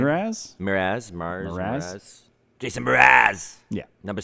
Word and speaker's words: Mraz: it Jason Mars? Is that how you say his name? Mraz? Mraz.